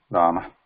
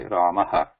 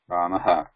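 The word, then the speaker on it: रामः: When we say Rama, when we write it like this, so there is a tendency to say Ramaha, Ramaha. When you see the difference there, Rama, Rama, Ramaha.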